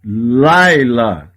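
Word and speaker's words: לילה: Laila. Laila. Não lê o som do shevá.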